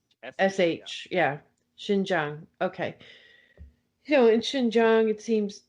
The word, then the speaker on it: Xinjiang: do you pronounce that again i'm sorry yeah xinjiang the x x is pronounced like a h right sh yeah xinjiang okay you know in xinjiang it seems it